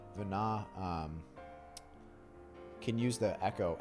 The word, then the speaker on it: Venat: think it's i don't i think the t is silent like it was in 12. vana um can use the